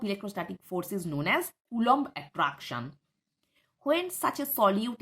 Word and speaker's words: Coulomb: The pronunciation is Coulomb attraction.